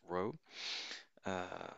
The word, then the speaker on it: rho: the greek letter r which is pronounced rho which could be taken